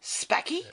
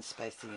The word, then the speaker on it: Spacey: That one about the salesman with Kevin Spacky and Al Pacino. I'll say it right. Kevin Spacey and Al Pacino in, what was the show called?